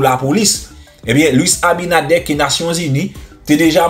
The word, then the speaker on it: Abinader: même ni te bay, gen moun ki di Abinader, m ka comprendre, mais R là c'est comme elle li prononcer en espagnol. Ça veut nous dire Luis Abinader.